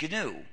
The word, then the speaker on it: GNU: not follow the dictionary please pronounce a hard G pronounce it gnu if you say the new system you've already made